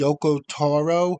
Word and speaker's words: Yoko Taro: I kept pronouncing the person's name wrong, but it's Yoko Taro, the creator of the